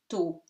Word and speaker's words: tout: A, here, bien, nasal, bien, tout. T is not pronounced.